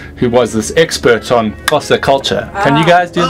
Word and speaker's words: Xhosa: Well, I mean, if your listeners try, if you go out the side of your mouth, that's how you say Xhosa, Xhosa.